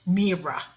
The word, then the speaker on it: myrrha: Actually, in Ethiopia and in Somaliland and in Somalia, it's only pronounced myrrha.